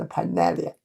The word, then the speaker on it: Pinellia: Should be pronounced as Pinellia.